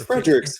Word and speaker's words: FredriXFigures: And pronouncing it sounds like it's the possessive form of Fredrick. Yeah, exactly. Which is how, what is that figure? It's FredriXFigures.